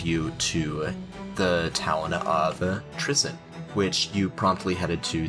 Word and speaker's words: Trisyn: saying it right you are saying it right Tristan um and the walls of Tristan are just